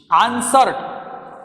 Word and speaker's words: answered: Do right suffix ed, you have to pronounce it answered, answered. Here W is silent.